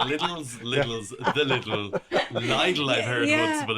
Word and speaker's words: Lidl: And it's also Lidl, by the way. Oh yeah, I was Make wondering. sure- I asked yesterday, Lidl. What does that rhyme with so I can remember? Nothing. Nothing. Well, needle, which is not a very nice thing to but the thing remember.